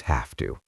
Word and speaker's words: have to: When the word have is followed by the word to, the final V sound in have changes into an F sound, and the O in to becomes a soft sound.